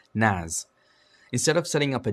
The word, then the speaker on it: NAS: A relatively affordable solution for file storage hardware is to use a network attached storage, or NAS, pronounced NAS, instead of setting up a dedicated server like you would other services.